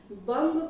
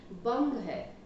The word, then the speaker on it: बंग: जैसे कि बंग को हम बंगा कहते हैं, तरंग को तरंगा कहते हैं, गलत है ये। बंग है, तरंग है, सिंध है, सिंधु नहीं है।